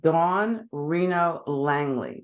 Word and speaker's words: Dawn Reno Langley: guest today um I want you to meet Don Reno Langley did I pronounce that correctly Don you certainly did oh